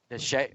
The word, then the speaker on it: Sidhe: It's spelled Sidhes, I believe, the Siddhis, and this is like their underworld, right? The Shay. The Shay. Oh, pronounced Shay. The Shay. That's how it's pronounced.